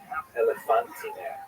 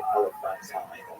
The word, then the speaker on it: Elephantine: I always pronounce that, by the way, Elephantine. So I look a little more carefully. I think it's supposed to be pronounced Elephantine. The comments will correct me if I get that wrong.